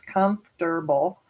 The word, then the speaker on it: comfortable: for me to type comfortable three syllables comfortable become comfortable making mistakes